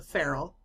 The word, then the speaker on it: ferrule: then you have now my husband tells me that I have been pronouncing this wrong it's called a ferrule and it is a